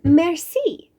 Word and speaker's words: merci: It's merci. You say it like this. Merci.